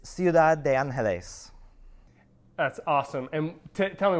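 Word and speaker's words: Ciudad de Ángeles: absolutely absolutely so uh in spanish it's ciudad de angeles that's awesome and tell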